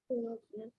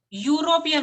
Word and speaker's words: European: European. European, right? Ya sound is coming.